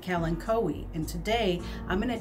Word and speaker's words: Kalanchoe: kalanchoe or kalinkowi how is it pronounced well it depends on where you live i pronounce it calen cowy and today i'm going